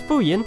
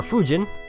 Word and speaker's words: Fujin: This is Fuyin, or Fujin. I think it's pronounced Fuyin.